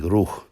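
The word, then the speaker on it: روح: consonantal structure appears, and they're only pronounced slightly different. The Hebrew being ruach, the Arabic and Syriac being ruh.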